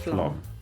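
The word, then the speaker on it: Flåm: Spelled flam. Yeah. Pronounced Flom.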